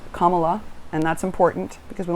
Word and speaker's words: Kamala: all learn how to say it right it's kamala and that's important because we want to be able to say her name accurately kamala and and joe biden very clearly said yesterday